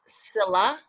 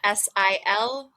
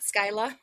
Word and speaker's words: Scylla: Um, the way you pronounce our name is Scylla, so it's kind of Silla, Scylla, not Skyla.